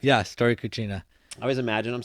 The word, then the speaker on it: Storia Cucina: pronunciation correct? Yeah. Storia Cucina.